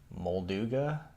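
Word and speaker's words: Molduga: want to deal with mold ooga it's how you pronounce it and we'll do guy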